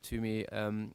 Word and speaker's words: Tuomi: Did I pronounce it correctly? Yeah, more or less. Tuomi.